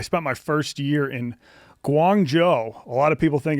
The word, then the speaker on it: Guangzhou: So that like they were a dime a dozen, but uh yeah, I spent my first year in Guangjo. A lot of people think it's pronounced Guang Xo.